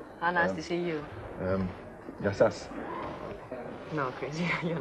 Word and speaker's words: γεια σας: The stress is on the first syllable. It's γεια σας. It's a good start. Because otherwise, it has an entirely different meaning, you see?